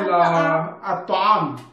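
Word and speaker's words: الطعام: Okay, so for example, bab, al-bab, you have to pronounce lam. Okay, but if it is ta, okay, for example, at-ta'am, at-ta'am, lam and ta are close, so that is sunlight.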